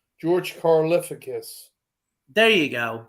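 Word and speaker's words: George Karlaftis: say his name what's it C Cal say George carus there you go say that yeah say that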